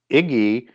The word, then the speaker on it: igi: the root Sumerian word um Iggy if I've pronounced it right. I think it's a hard G in Sumerian. IGI as it's transliterated that goes back to watch